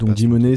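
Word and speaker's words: GMoney: du du web 2 il veut dimonez ça s'écrit g m o n e y euh et ce qui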